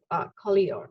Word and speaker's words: Collioure: I had to literally go and check the pronunciation of Collioure.